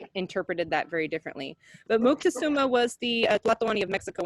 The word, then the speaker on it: Moctezuma: Moctezuma, or Montezuma as he is called in the text, and these names, these alternate names, are mispronunciations on the part of the Spaniards as they were trying to learn the indigenous people's names.